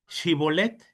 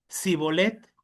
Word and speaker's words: shibolet: Si él respondía no, entonces le decían, "Ahora pues di shibolet." Y él decía sibolet porque no podía pronunciarlo correctamente.